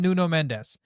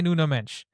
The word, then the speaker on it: Nuno Mendes: wing back tell me other than Nuno Mendes you can't say Nuno Mench tell me another one